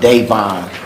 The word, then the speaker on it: Devon: turn in yes also my name is pronounced Devon it's not D sorry did thank you